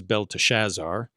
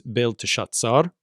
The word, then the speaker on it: Belteshazzar: He gave the name to Daniel, or he gave to Daniel the name Belteshazzar, which, we typically pronounce in English as Belteshazzar, but Hebrew here it's Belteshazzar.